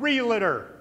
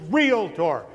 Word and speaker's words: realtor: by a mile realtor's the word is not real it or it's real tour now we all know that in here but